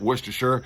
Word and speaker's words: Worcestershire: So I pronounce it Worcestershire, all right, because nobody says New Hampshire. They say New Hampshire, right? So why say Worcestershire when you can say Worcestershire? Worcestershire, like New Hampshire, not Worcestershire, like New Hampshire, right?